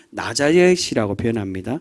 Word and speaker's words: 나자렛: 얘기하죠 예수님이 어디 출신입니까 나사렛 예수 그렇죠 34절 제일 초반 에 아 나사렛 예수여라고 그렇게 표현합니다이 나사렛 예수란 말은이 좀 더 정확한 발음으로는 나자렛이라는 단순히이 나자렛 나사렛은 예수님의